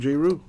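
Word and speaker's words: Jrue: got jeru holiday pelicans oh jayru or drew no that's how you pronounce his name jayru okay there's something new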